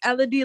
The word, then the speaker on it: Elodie: But it's Elodie like melody without.